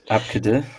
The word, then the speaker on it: Abcde: How was that pronounced? Abkadur.